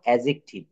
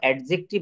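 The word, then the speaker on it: adjective: তারপর অ্যাজেকটিভ, অ্যাজেকটিভ আমরা ভুলেও কখনো অ্যাডজেক্টিভ বলবো না, আমরা বলবো অ্যাজেকটিভ, অথবা অ্যাজেটিভও অনেকে বলে, অ্যাজেটিভ অথবা অ্যাজেকটিভ। এখানে ডি কিন্তু সাইলেন্ট।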